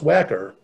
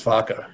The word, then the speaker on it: Wacker: to rename the street for charles whacker which would probably pronounce vodka he was a german immigrant who's a brewer and